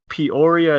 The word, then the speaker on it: Peoria: to your childhood so you grew up in Peoria is how you say it Peoria Arizona right yes sir so that's the right